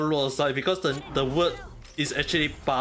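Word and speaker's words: Luocha: The thing is, right, his name is not pronounced as Locha, it's called Luosa. His name is called Luosa.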